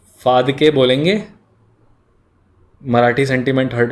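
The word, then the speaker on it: Phadke: बोलिए उत्तर प्रदेश वाली, इट्स फादके, ठीक है। गर्ल्स विल अंडरस्टैंड प से, बॉयज़ विल अंडरस्टैंड फ से। Anyway none of them are correct pronunciations.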